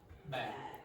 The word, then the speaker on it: bag: Bag. Bag. Bag. Bag. Okay. Everyone, you almost all of you have a problem with this. Bag. The vowel is long.